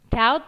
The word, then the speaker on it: doubt: Doubt ini cara bacanya huruf B-nya dihilangi ya, doubt. Jadi bacanya kayak D-A-U-T, doubt.